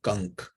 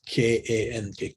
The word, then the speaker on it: Kank: under the name of Kank, and it is K-A-N-K, Kank. Okay, just it might rhyme with some other word that we know of, but it's Kank.